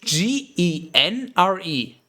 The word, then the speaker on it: genre: see it you would as a german without any prior knowledge you would spel sorry he would not spell he would pronounce it general general but it's genre and in english it's genre which is almost the same that's just like that's